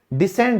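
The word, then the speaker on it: descend: डिसेंड यानी कि उतरना, इसमें भी सी साइलेंट है।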